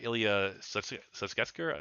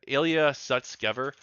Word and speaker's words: Sutskever: former co-founder actually the co-founder of openai uh Ilia Susker let me say his name right yeah Ilia Sutskever He's actually come out and said that he